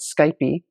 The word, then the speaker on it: Skype: a brand like Skype, Americans call it Skype, some Europeans call it Skypey.